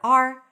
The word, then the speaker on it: our: The word hour is rarely pronounced as hour. It's usually pronounced as just the letter R. R. This is our place. Welcome. This is our place. Now, this is how you pronounce it when it's unstressed. If it's stressed, it's going to be pronounced as our. This is our place, not yours.